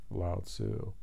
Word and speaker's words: Lao Tzu: The works of the old boy, Lao Tzu.